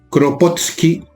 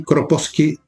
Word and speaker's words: Kropotkin: Proudhon o Proudhon, depende de cómo si lo pronuncian en francés o en inglés. El Bakunin, un ruso, otro ruso, el príncipe Kropotkin, si no me equivoco se dice así, Kropotkin, o sí, por ahí, y el señor Malatesta.